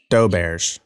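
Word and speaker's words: Doberge: then there's doberg's cake wait doe bird hold on yeah is it doe birch or how do you say it doe bears okay thank you love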